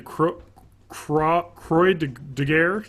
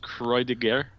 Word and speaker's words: Croix de Guerre: Probably pronounced Croix de Guerre. Yeah, Croix de Guerre.